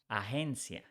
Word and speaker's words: agencia: If we change Y for IA, agency becomes agencia. Here is something that is important to say. G, when is following by E or by I in Spanish, is pronounced like H.